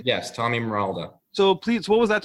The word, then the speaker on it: Morolda: Am I pronouncing it correctly? Yes, Tommy Morolda.